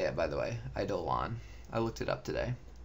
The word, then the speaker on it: Eidolon: is how you say it, by the way, Eidolon.